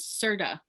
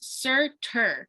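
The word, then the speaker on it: Surtur: in the beginning yes i thought that thing's name was serta for the longest time it's certur with an r at the end but it's the way because thor's like santa and i'm like yeah it's not there's an r um so that's funny anyway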